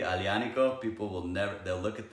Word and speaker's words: Aglianico: you say it correctly I Liana Co people will never look at that they never read it right because there's a G in there you don't pronounce it with a G it's awesome people like